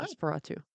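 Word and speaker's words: NOS4A2: has a successful book series and a TV series based on the book called um it's spelled NOS number 4 a letter or number 2. Nos 4A2. Oh, Nosferatu.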